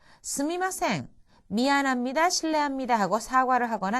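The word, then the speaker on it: すみません: すみません. 미안합니다, 실례합니다 하고 사과를 하거나 남을 부를 때의 표현이죠. 이것은 회화체에서 すいません 이렇게 발음하기도 합니다.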